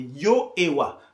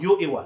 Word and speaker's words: Yehovah: Je n'arrive pas à me défaire de cette prononciation qui est celle des témoins de Jéhovah. C'est Yehovah. Moi, le nom de Dieu, je le traduis par Yehovah.